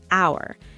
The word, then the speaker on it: hour: Take the word hour. The H is silent, so it starts with a vowel sound, ow.